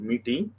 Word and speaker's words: Métis: Canada has got three distinct groups: First Nations, Inuit, and the Métis. S is silent. Métis.